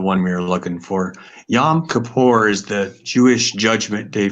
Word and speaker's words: Yom Kippur: Is it Y-O-M. YOM, not YAM. Okay. Mm-hmm. Space KIPPUR, I think.